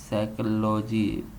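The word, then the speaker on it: psychology: इसका सही है साइकोलॉजी पी एच वाई पी साइरेंट पढ़ेंगे। लेकिन इसकी स्पेलिंग जो है वो है पी एस वाई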